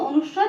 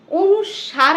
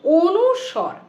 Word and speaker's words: অনুস্বর: অনেকে এটাকে কি বলে অনুস্বার বলে অনুস্কার বলে বলে বিভিন্ন রকমের উচ্চারণ করে কিন্তু এটার একচুয়াল উচ্চারণ কিন্তু অনুস্বর কি বললাম এটার একচুয়াল উচ্চারণ কিন্তু অনুস্বর যেমন ধরো এই এটাকে